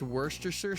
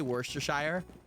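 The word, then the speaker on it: Worcestershire: It's pronounced worstersher sauce. Oh, did I say worstershire?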